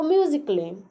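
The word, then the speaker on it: musically: ए जो है उसको साइलेंट कर दिया गया है क्योंकि इसके तुरंत बाद डबल एल वाई आ रहा है, तो म्यूजिकली मतलब होता है संगीतमय।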